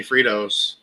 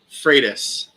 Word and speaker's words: Freitas: why everyone calls me fritos so say your last name for us freitas freitas like freight freight train freitas your fritos yeah yeah